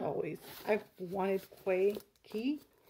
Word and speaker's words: Quay: a pair of key i think it's pronounced key glasses like just glasses and